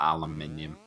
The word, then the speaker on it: aluminium: not back the aluminum sorry I have to pronounce that aluminium and two British can